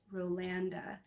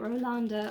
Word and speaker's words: Rolanda: likes rolanda fabric that her name is pronounced rlanda so that is going to be very difficult for me to transition into saying because i've been saying it ralonda all this time maybe